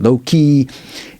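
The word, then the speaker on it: loci: And the memory palace, sometimes it's called method of loai. Sometimes people pronounce that low key.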